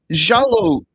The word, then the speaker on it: giallo: So, jalo is Italian for yellow. And uh I was speaking with my Italian Spanish colleague just to make sure so I got the proper pronunciation of Jallo.